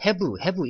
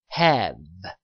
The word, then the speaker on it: have: 흔히 우리가 요거를 have 이렇게 발음하잖아요. 이게 아니라 발음 기호를 잘 보시면 have 이렇게 발음을 했습니다.